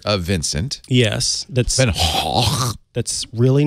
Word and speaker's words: Gogh: It's actually not even Gogh. It's Hoch. Hoch? Van Hoch.